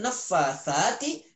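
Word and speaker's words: النفاثات: Wa min syarrin naffatsati itu bacanya ya.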